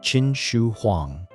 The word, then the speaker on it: Qin Shi Huang: Qin Shi Huang, pronounced Qin Shi Huang.